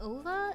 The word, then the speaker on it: OVA: You called Ovas Ova rather than OVA.